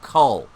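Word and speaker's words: Kull: this is also the um cameo appearance of cull now some people mispronounce it and they write null but it's not null it's the first appearance of cull which is another barbarian so they are potentially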